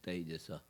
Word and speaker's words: Taijasa: no fire, but how you say it is Taijasa.